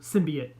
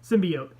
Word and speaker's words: symbiote: it was the other symbian Samiha symbiote someone yelled at me for not pronouncing that right symbiote that looked like it